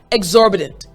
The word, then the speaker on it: exorbitant: My voice kind of goes up, down, exorbitant, bedent, bedent. So what you need to remember is at the end of the word, you want to make sure your voice goes up and down very quickly.